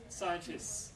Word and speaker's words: scientists: Scientists. The T is elided.